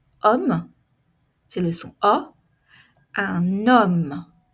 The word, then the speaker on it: homme: regardez ici la liais on ne prononce pas le H homme c'est le son a